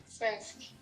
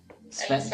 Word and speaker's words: svenska: Svensk. Svenska.